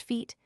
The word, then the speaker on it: fete: In the same way, slash lawn fete slash, without the circumflex accent and commonly pronounced feet, has elbowed out the